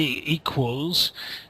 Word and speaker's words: equals: So when you say equals, think of a W in the middle.